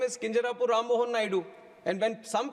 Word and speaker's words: Kinjarapu: And my name is Kinjarapu Rammohan Naidu.